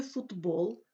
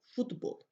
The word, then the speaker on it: футбол: впливом дзвінкого сусіда з у слові футбол тлухий під впливом би дзвінкого звучить як парний йому д футбол але в українській мові